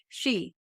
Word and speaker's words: Hsu: And that's why we've been reading this book called Singles at the Crossroads by Albert Shee. But it's spelled HSU if people are trying to find that.